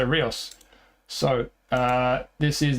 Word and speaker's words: Ríos: For some reason, commentators always pronounce it Hios, but according to Ballad, it's Rios, so I'm going to say Rios.